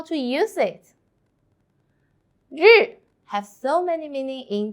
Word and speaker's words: 日: In this video, I will teach you how to pronounce it, how to write it, and how to use it. Let's read it together. 日.